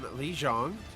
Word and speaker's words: Lijiang: And we're playing on Lijiang. I have been reminded that is the correct pronunciation. You say anything else, you offend people.